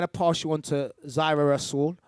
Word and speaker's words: Zaira: I'm going to pass you on to Zaira Rasool. Zaira, is that Zaira? Which one is it? Yeah, I'm Zaira. Ian got the correct pronunciation.